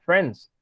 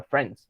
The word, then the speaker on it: friends: Acuérdense nada más, friends. La I intermedia no suena. Se va directamente a friends.